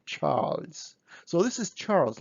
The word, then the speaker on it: Charles: So practically when we say Charles, we pronounce kind of S at the end, but we write Z, Charles.